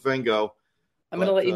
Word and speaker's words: Van Gogh: I was trying to figure out, I was like, is their pronunciation closer to the Dutch or is ours? And I went and I listened to the pronunciation and it is Van Gogh. And it is a thing that I'm like, I can't do what's happening there. So I'm going with Van Gogh.